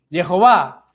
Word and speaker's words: Jehová: Y decimos Jehová porque es la pronunciación fonética más acertada y más repetitiva dentro del estudio o la consideración del texto hebreo, ¿sí?